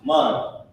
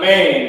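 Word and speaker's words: מן: Mun is a word that means, let me put how you pronounce it. Mun. It's not man, it's mun.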